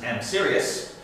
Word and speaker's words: AMSRS: short version of AMSRS, which I always pronounce as AmSirius.